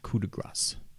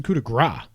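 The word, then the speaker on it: coup de grâce: get it okay but that's kuda grace no it's a coup de grace you say is you pronounce this sound yeah coup de gras is something else what the hell really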